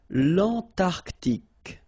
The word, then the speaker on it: L'Antarctique: Remember, Q-U-E here, it's K. Okay, so tic. L'Antarctique, l'Antarctique.